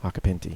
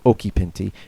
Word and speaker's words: Occhipinti: And if anyone is wondering, that's how you say my name, Acapinti. At least the American way. I think if you actually live in Italy, you can say Occhipinti.